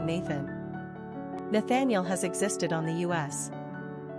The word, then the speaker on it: Nathaniel: Pronunciation, Nathaniel or Nethan'el.